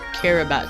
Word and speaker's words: Kiribati: now kiribati kiribati kiribati you can you can pronounce it in many ways but it's more generally subject to to say it care about or kiribati i'm choosing herobats because i feel it's better yes kiribati is now